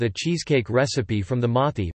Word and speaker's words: Mauthe: cheesecake recipe from the Mothi pronounced Mote family of Macomb, Mississippi who operate the Progress Milk Barn, nearly destroyed by Hurricane Katrina.